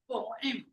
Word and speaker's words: poem: This is having two syllables, not only one. In the American, we are used to say that poem, but it's the wrong pronunciation because we are used to follow British pronunciation. So we have to say that by using two syllables, poem.